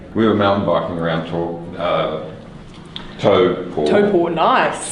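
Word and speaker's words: Taupō: We were mountain biking around Tauport. Nice. Tauport. Nicely pronounced.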